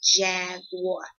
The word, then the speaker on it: jaguar: And the U is kind of, it's silent, so it's like jaguar.